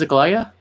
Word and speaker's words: Aglaia: Wow, you're the first one who spoke it the right way. It is Aglaia? Yeah.